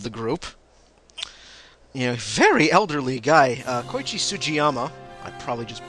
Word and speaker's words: Sugiyama: Koichi Sugiyama. I probably just butchered that. Sugiyama.